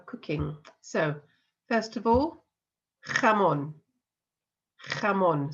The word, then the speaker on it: jamón: So, first of all, jamón. Jamón. So we've got that jota sound at the beginning there.